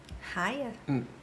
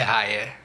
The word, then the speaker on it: Haia: Raia? Não sei, eu chutaria Raia. A sede do governo Uhum. Eu não vou saber a pronúncia, eu acho, mas é tipo Amstelveen. É Haia.